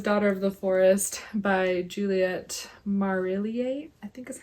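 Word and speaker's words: Juliet Marillier: My second favorite is Daughter of the Forest by Juliette Marillier.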